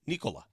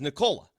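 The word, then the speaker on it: Nikola: I asked him, I said, "How do you properly pronounce it?" He said, "It's Nicola." And I go, "Well, I just asked Nola." And he says, "Nicola."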